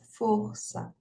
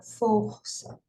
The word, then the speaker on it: força: pronunciada né então ó força né veja que e eh tá indicando aqui que esse o ele é um o fechado né a pronúncia fechada força tá então o que